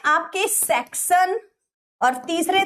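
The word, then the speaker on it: Saxon: section क्या बनती है सेक्शन नहीं बोलेंगे सक्सेना सेक्शन है ये ठीक है बहुत बच्चे गलत स्पेलिंग बोलते हैं इसीलिए मैं आपको साफ साफ-साफ बता रही हूं टी नहीं है ये एस है क्योंकि फिर आप स्पेलिंग गड़बड़ कर दोगे इसको आप एंग्लो बोलो एंग्लो सेक्सन एंड ज्यूट्स लिख लीजिए फटाफट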